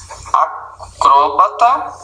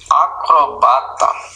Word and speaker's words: acrobata: Mas existem palavras que admitem dupla pronúncia. Por exemplo, existe acróbata e existe o acrobata. Você pode falar do mesmo jeito, tá certo? As duas palavras. Existe o hieróglifo, ou você diz hieroglifo.